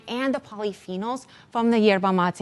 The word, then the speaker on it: Yerba Mate: Yeah, so Yerba Mate.